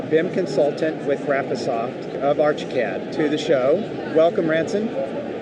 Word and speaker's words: Archicad: So, next up, I spoke with Ransen Radcliffe at Graphosoft's Archicad. And oop, I'm sorry I pronounced that wrong. For many years, I've always pronounced it Archiead.